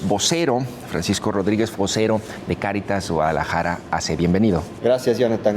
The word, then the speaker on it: Cáritas: Entonces, es una palabra que viene de latín y es caridad tal cual porque muchas veces confunden caritas, ¿no? Ay, caritas no es cáritas con acento en la por caridad que viene traduciéndose en amor tal cual, literal.